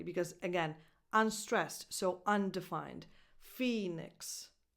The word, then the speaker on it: Phoenix: Phoenix. You go from the N to the X, whatever comes out, that's your vowel. Phoenix.